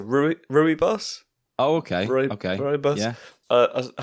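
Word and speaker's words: rooibos: have pronounced it differently i'm going to say roy bush is that center arf for uh some russian side what is that some some know it as a ruby boss oh okay okay uh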